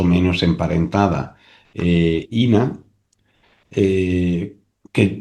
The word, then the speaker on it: Ena: emparentada Ina, eh, que yo no sé por qué le llaman Ena, pero yo siempre la he llamado Ina. Es Mm, Ina, porque en inglés es Ina. Bueno, porque como en español se escribe Ena, pues Claro, Claro, sí, claro.